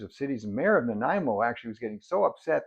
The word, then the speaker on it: Nanaimo: They're making and selling Nanaimo bars, but they're pronouncing it Nanaimo or Nanimo or Nanaimo, and the mayor quite upset and